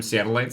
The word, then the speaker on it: Seattleites: Is it because it rhymes with satellite?